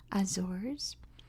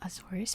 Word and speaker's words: Azores: with its name because I have heard azors I've heard aorus and I've heard Azor um I've always heard aurus but that's the Portuguese pronunciation and I always try to go for the American English pronunciation because I speak American English on this channel which I've heard azors I've heard azors for English uh azors sounds like bad I think that that word makes my ears sad it doesn't